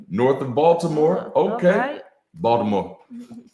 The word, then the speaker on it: Baltimore: north of Baltimore okay Baltimore Bal more you got to say it you be more um and say so